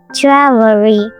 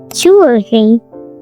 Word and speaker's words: jewelry: Learners usually overpronounce it as jewelry, but natives smooth it down. In American English, it's usually short, either jewelry, jewelry, or just jewelry. Jewelry, only 2 syllables.